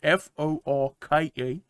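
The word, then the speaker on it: Forke: yes I like it his name is Fork spelled f-o-r-k-e Fork uh he got pronounce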